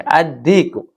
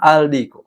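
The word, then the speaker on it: الديك: Addiku. Addiku bukan aldiku. Kalau aldiku salah. Yang benar adalah addiku. Pakai syamsiah.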